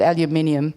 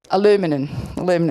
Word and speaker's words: aluminum: We call it aluminium. Can someone say it for me? Aluminum, I'll have to try and remember how to say that.